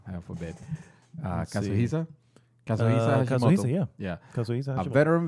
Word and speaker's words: Kazuhisa: Kazuhi, my God, I'm hoping that I'm not mispronouncing, heaven forbid. Kazuhisa? Kazuhisa, yeah.